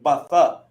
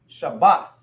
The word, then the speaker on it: Shabbath: So the a falls off, which makes the. Now when they join together, is ba. It won't be batha. It won't be batha. It's now they join together, and it makes bath. Shabbath, right?